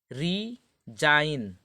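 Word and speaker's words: resign: गए होंगे अब यह देखिए कि हमारा है रीजाइन देखिए रिजाइन यह भी कहा गया कि साइलेंट हो गया मतलब क्या होता है ना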